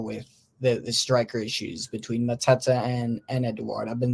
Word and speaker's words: Mateta: I just I don't know what they need to do to maybe reach levels like I actually watched Matete. Mateta, is that how you say it?